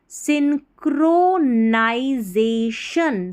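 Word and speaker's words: synchronization: वाई एन सिन crow C एच आर ओ को crow पढ़ना है चिरो नहीं पढ़ना सिंक्रो नाई एन वाई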